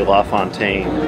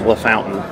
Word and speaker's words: La Fontaine: Now, even though the hotel is properly called Fontainebleau, this restaurant over here, I suspect, is actually La Fontaine. I doubt they want that pronounced La Fountain.